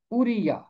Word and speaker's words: اوریا: میری روشنی یہوہ ہے۔ عبرانی زبان میں اس کا یہی درست تلفظ ہے، اوریا، اوریا۔ اور کا مطلب ہے